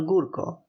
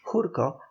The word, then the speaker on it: Gurko: of Poland the celebrated General gurko who is of Polish descent and whose name properly pronounced is the Polish jurko after the sentence of